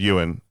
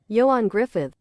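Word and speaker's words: Ioan Gruffudd: I may have said his name wrong before. I said Ewan. It might be Iron. And I think, again, I could be wrong. Gruffud, I think is pronounced Griffith.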